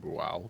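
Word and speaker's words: Bhaal: Hey, is it bu or bull? I believe they pronounce it bal, but uh I just need to inch you a little bit.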